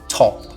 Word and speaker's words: top: tem aqui a palavra top top top percebe que eu não tô falando top top eu tô falando top quase que soprando aqui entre a letra t e a letra O então é esse som